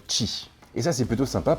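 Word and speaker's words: Qi: intègre donc la technologie qui se prononce d'ailleurs qui et ça c'est plutôt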